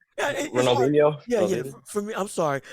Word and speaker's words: Ronaldinho: Ronaldinho.